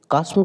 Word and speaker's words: chasm: कास्म का मतलब होता है खाई, लेकिन इसको अगर स्पेलिंग याद रखना हो तो इसको पढ़िए चास्म, तब याद रहेगा, CHASM, चास्म। लेकिन होता कास्म।